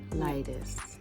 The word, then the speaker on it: lightest: Circle the object you think is the The G is silent. Lightest.